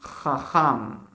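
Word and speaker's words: חכם: On dit Chacham. Vous avez vu? Prononcer Cha. C'est un Chet là. Et là aussi, Cha. Ça c'est aussi, c'est le même son. Chacham.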